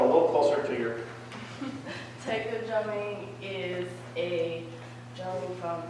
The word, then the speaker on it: taiko: You're also in, I'm going to mispronounce it, is it taiko? That's correct. Drumming? Yeah. Okay, taiko drumming. Maybe you could tell us a little bit about that.